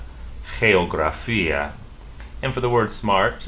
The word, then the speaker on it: geografía: The word geography, once again, G followed by E, is pronounced H. Say, geografía, geografía.